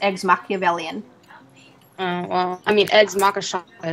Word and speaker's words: Eggs Machiavellian: I just call it eggs Macha-Shacka-Shacka. Yeah, it's actually pronounced eggs Machiavellian.